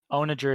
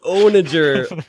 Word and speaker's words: onager: it was great uh onager is the correct pronunciation onager okay that's that's my